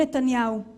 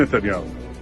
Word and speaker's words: נתניהו: feito lá dentro de Israel e também sendo pronunciado por ele mesmo. Veja. זה היה לא אחר מאשר ראש הממשלה בנימין נתניהו.